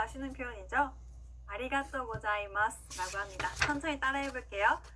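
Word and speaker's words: ありがとうございます: 아리가또 고자이마스 라고 합니다. 천천히 따라해 볼게요. 아리가또 고자이마스. 한 번 더. 아리가또 고자이마스.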